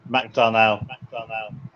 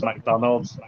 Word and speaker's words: McDonnell: They always think it's McDonald's. It's not. It's McDonnell. Everyone gets it wrong.